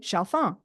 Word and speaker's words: Chalfant: And in French, you don't say that final T, you say Chalfant.